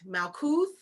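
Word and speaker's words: Malkuth: root malcooth malcooth it's m-a-l-k-u-t-h or k-u-t i say couth some people say kut both are right malcuth or malkut okay so and i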